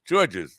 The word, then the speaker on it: Georges: Georges? It's a I joke. only see one George. It's many of me, but it's written in the French. So in the French, the S is silent, and Yeah.